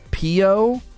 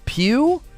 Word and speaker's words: Pew: Pio. Oh, it's neither of the pronunciations I went. It's Pew. Pew. Okay. Pew, like pew pew, like a gun goes pew.